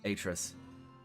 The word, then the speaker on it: Atris: there is a correct pronunciation of that. What is it? Atris.